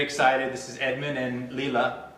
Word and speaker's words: Leela: This is Edmond and Leela. Pronounce it right? Leela?